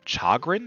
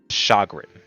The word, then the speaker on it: chagrin: would soon be his much to deal uh Chagrin is that how you pronounced this Chagrin Chagrin Chagrin I don't know Chagrin I don't know why could you help me please shagrin thank you rily okay muchu sadil shagrin the